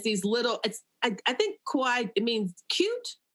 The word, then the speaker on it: kawaii: And it's these little, I think kawaii, it means cute. Kawaii, yes, it means cute. How do you pronounce it?